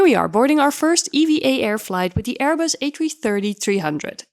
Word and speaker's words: EVA Air: Also, fun fact, we only learned it's pronounced EVA Air on board the plane as all this time we thought it was called Eva Air instead.